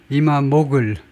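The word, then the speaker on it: İmamoğlu: 위해서죠 이스탄불 시장 이크림 이마 모글 글루가 아니고 모글 정도로 발음한다고 그러네요 이크 이마 모글인 이스탄불데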